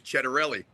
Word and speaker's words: Ciattarelli: You've done your homework, and people that call me Chet know the correct pronunciation of the last name is Ciattarelli.